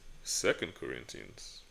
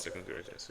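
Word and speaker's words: 2 Corinthians: Second Corinthians. That's why I said you said Corinthians 2, but it's pronounced second Corinthians.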